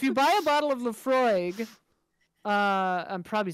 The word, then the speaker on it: Laphroaig: like yeah if you buy a bottle of laphroaig uh i'm probably saying that wrong i don't